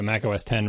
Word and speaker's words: Mac OS X: I would have, I spent several years opening all my Mac OS 10 reviews by saying, and by the way, this is another reminder, the X is pronounced 10, because no one knew what the hell Mac OS X was, right?